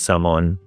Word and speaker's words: Samoan: He's Saman. That's how you say it, by the way. Samoan. Um you don't say Samoan, right? It's Samoan. Um and if you say it the wrong way, people know immediately that you're not from here.